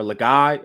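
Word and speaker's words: Legas: We've got Cooper Lagasse at quarterback, or Laga, I think is how you actually pronounce it. Laga, if we're being fancy. That's how they say it on the broadcast.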